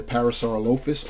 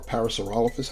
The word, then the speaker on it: Parasaurolophus: we have wyatt the parasaurolophus or parasaurolophus however you want to uh pronounce it's been spoken both ways another uh crested uh